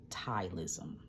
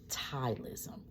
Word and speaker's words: ptyalism: from a condition called tyism. Tyism it is spelled P like Paul. T Y A L I SM. Tylism.